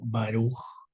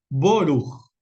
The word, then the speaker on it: Baruch: Dicen, por ejemplo, Baruch, pero en Ashkenazí significa en los que vienen de Rusia, Alemania, Hungría, etcétera, todo lo que es Europa del Este, van a pronunciar Boruch.